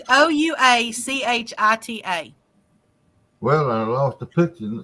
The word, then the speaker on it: Ouachita: Won't you just spell it? It's Ouachita.